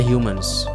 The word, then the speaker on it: HMNS: Sampai Akhir Hum tulisannya Itu hmns cuma dibaca Humans ya gua gak tahu kenapa kenapa mereka gak bikin Humans Kenapa jadi hmns ya mungkin biar keren tapi dibacanya Humans mereka itu punya slogan